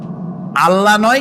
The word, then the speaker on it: আল্লাহ: আল্লাহ নয়, কিন্তু আল্লাহ হচ্ছে অশুদ্ধ, শুদ্ধ হচ্ছে আল্লাহ। বলার সময় মুখটা গোল হয়ে যাবে।